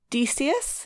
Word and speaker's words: Decius: to ask about uh decius is that how you would say it the dog decius now the big big uh yeah because actually you're saying it right because one of my